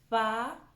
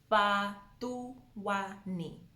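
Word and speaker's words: Fhaṱuwani: So the T is also not a T. It's a th sound. So Patuani. Patuani.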